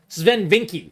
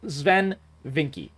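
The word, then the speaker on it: Swen Vincke: struggles of the past ven vinky sorry I was adding an extra thingy yeah I was adding an extra syllable thank you Mage thank you that yes zven vinky yeah exactly exactly healing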